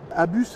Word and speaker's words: ABUS: On dit bien Abus parce qu'en fait Abus c'est l'anagramme de August Bremaker qui est le créateur de la marque. D'accord. Et en allemand Son et fils. Et donc on prononce bien le S de chez Abus.